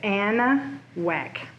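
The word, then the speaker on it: Anahuac: Like it's your which, pronunciation is Anna Whack.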